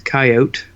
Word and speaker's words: coyote: you're from this area it's a coyote coat yep the e is silent right but they're really bad